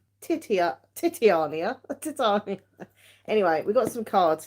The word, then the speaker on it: Titania: laughing at me because I've been pronouncing these totally the wrong way so they're actually uh Titania's Fortune cards Titania but I've been calling her what was I calling her titiana titiana I was calling her titia titiania a Titania